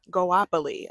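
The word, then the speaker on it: Goapele: Goapoli.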